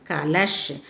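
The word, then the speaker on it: कलश: This one is kalash. Ka-la-sha. Shal means you should pronounce as ish. Ka-la-sha. Kalash. Ka-la-ish. Kalash.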